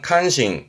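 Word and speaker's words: 感心: 발음은 칸싱, 칸싱.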